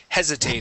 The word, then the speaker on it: hesitated: let's go to hesitated stress at the very beginning hesitated hesitated hesitated very good